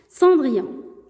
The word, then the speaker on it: Cendrillon: انتبهوا la prononciation. Cendrillon.